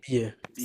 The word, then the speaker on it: billet: দেন টিকেটকে বলেছেন বিলে, ওটা হবে কি বিএ, ডাবল এল সবসময় কি থাকে, Billet. সাইলেন্ট থাকে, হ্যাঁ।